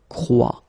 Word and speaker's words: croit: And phonetically here, as we saw, and is not pronounced, so you get the sound croix. exactly the same sound as we've got here.